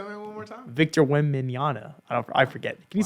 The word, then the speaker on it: Wembanyama: I want some Victor, how do you pronounce it? Wembanyama at the end of it. Say that one more time. Victor Wembanyama.